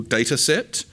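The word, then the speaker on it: Datasette: I don't know if you all know um Simon Willis's tool data set, which is spelled s like data cassette.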